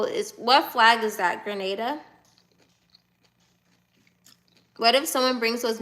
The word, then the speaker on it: Grenada: I said Grenaden. What flag is that? Is that Is that Grenada? Grenada. I said it right. No, it's not grenade.